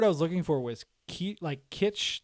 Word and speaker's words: kitsch: The word I was looking for was kitsch, like quiche.